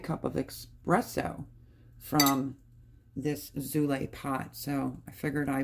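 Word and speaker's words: Zulay: as you use it zulle that's how you pronounce it z u l a y okay the espresso will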